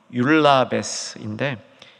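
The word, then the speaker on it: εὐλαβής: 그 시므온을 가리켜서 여기 이제 헬라어 발음이 율라베스인데, 율라베스 경건한 사람, 그렇게 표현했는데 아나니아가 바로 그 율라베스 경건한 사람으로 표시되고 있습니다.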